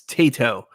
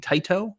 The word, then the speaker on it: Taito: So I apologize for saying Taito. I will try to remember Tato going forward. Tato.